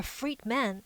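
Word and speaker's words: Friedmann: equation from physicist Alexander Friedman whose name rhymes with free men according to initial media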